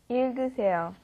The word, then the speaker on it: 읽으세요: 읽으세요. 읽으세요. Yeah, you got a double consonant there again, right? The I sound at the beginning, then it goes to the L, il. It goes in that order, il, and then g, that